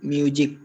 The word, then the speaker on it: music: I have no interest in music. Music nahi hai wo. Music. So I have no interest in music. That's how you pronounce it. It's the z sound, not j.